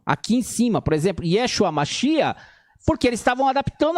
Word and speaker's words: Yeshua: entre os cristãos judeus o nome de Jesus provavelmente era pronunciada e Yeshua ou e o título